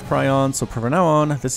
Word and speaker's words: Prion: I had a subscriber tell me that it is pronounced Prion, so from now on, this is Prion Terraces.